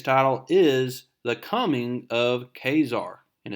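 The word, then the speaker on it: Ka-Zar: get started today's title is the coming of khazar and it's pronounced kzar so i'm pronouncing it correctly and it says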